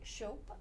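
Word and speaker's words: Shope: do you spell that s h o p e or as I say hope with an s in front oh I like that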